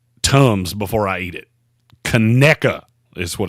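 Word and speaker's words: Conecuh: to eat seven Tums before I eat it cona is what it's called cona yes big c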